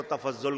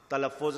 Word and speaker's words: تلفظ: لفظ کو ادا کرنا، کچھ لوگ ہو سکتا ہے اس کو تفضل کہہ دے، تلفظ نہ کہیں، کوئی مطلب کی جگہ مطبل کہہ دے، ہوتا ہے نا ایسا،